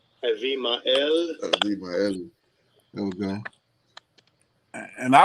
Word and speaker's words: Abimael: Avimael. Abimael.